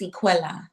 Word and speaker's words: Equilla: So now is it I'm I want to make sure I'm I'm pronouncing the L's right. Is it Aquila or Aquila? It's Equila.